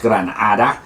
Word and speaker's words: Granada: And then, so gran, great, or big, Gran Hada is pronounced Granada, and that's the biggest magical being of them all.